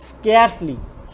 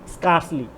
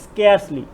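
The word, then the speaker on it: scarcely: দেখো কোনো সেন্টেন্সে যদি দেখো যে hardly, বেয়ারলি, রেয়ারলি, RARELY, রেয়ারলি, স্কেয়ারসলি, স্কেয়ারসলি নট স্কার্সলি, উচ্চারণটা হবে স্কেয়ারসলি, সেলডম, ফিউ অথবা লিটল থাকে, তাহলে সেই সেন্টেন্সটি নেগেটিভ অর্থ প্রকাশ করে।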